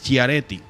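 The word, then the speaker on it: Schiaretti: 23.83 Patricia ella y juanti cómo que se pronuncia ese nombre es chiaretti chiaretti con 6 pun 78 por verdad son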